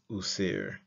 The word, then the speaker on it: wsr: neck of a canine this is transliterated as wsr and pronounced user uh the next new